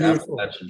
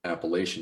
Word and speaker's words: Appalachian: when i moved here i was instantly corrected by a co-worker at the time who told me i was saying it wrong he said you can call it appalachian you call it appalachian appalachia yep and then he sent